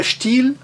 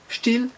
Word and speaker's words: Still: com um som alongado, e na palavra still, still, seguido de dois L's com o som breve, still.